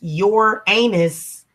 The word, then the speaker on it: Uranus: that planning without laughing Uranus yeah your anus exactly you know and it's so weird because that planet is pronounced your anus and but it's associated